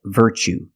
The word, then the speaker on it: virtue: word what's the pronunciation you see Tue as the second second syllable so the t is pronounced CH like chicken so what's the pronunciation that's right virtue what is a virtue